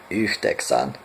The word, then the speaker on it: yhdeksän: 9 is similar to 8, is yhdeksän.